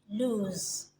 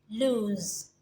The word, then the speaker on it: lose: whether you got them right in terms of pronunciation so this one here is lose and this one here is loose lose loose so you're wondering what's the difference okay